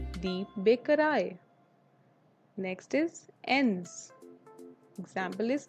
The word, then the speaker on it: Bäckerei: Next one is EI, which is always pronounced as I, die Bäckerei, die Bäckerei.